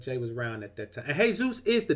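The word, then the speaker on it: Jesús: is a Hispanic name j esus is a Hispanic name and just like Jos E is pronounced Jose that name is pronounced hey Zeus I got a Hispanic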